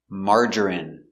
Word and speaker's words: margarine: Remember, medicine, margarine, intestine or intestines, more than one, genuine, famine. Remember, it's countable, a famine, and jasmine. So all of these words are pronounced with the in sound for the ine.